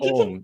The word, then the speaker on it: Ong: Yeah, it's Ong. It's you Ong. can pronounce it Ong. In Chinese, it's Ong. Yeah, like So Yong.